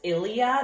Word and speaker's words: Ilia: Organics, as well as the, I call this Ilia, that's how I pronounce it.